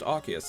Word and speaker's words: Arceus: legends arceus or arceus apparently that's how it's pronounced arceus it's uh even though it's always been osceous but anyway argus yeah that got announced and